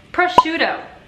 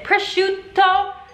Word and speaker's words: prosciutto: Prosciutto. Gli americani non hanno questa doppia lettera. No, no, no, non pronunciano la doppia lettera. Quindi invece del prosciutto, o invece del prosciutto, dicono prosciutto.